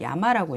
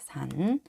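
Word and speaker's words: 山: 근데 일본어에서도 이거를 야마라고 읽어요. 야마. 네, 모르시는 분들을 위해서 여기 있는 야자하고 마자예요. 야마라고 읽어요.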